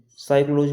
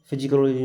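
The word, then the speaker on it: psychology: जैसे हमने ये लिखा है PS, PS बाई CHOLOG बाई साइक्लोलॉजी। साइकोलॉजी पढ़ रहे हैं, फिजिकोलॉजी नहीं पढ़ रहे हैं, तो हम यहाँ पर पी साइलेंट।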